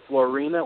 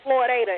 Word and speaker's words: Floydada: This is the Floydada Police Department. Florina? Where is that located? No, it's Floydada, Floydada.